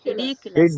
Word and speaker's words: ridiculous: Ridiculous. Ridiculous. Ridiculous, ridiculous. It's quite ridiculous. Okay, next. Ridiculous. Ridiculous. When you want to stress on one syllable, the adjacent syllable or neighboring syllables become weak actually.